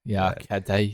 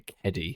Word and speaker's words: Keddie: But no, But it's like the Eddie, but with a K at the start, like a Keddie.